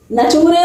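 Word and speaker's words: nature: पर क्या पढ़ोगे बच्चों नचरे नहीं नेचर यहां पर टी के आगे यू आर लग गया तो इसका उच्चारण च हो गया तो बच्चों हम इसको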